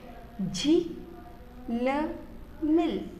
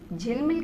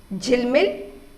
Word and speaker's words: झिलमिल: झिलमिल, झीलमील, झिल, जबकि शब्द क्या है, झिलमिल है, लेकिन अगर हम इसको झीलमील करेंगे तो ये शब्द का अर्थ नहीं है, ये गलत हो जाएगा।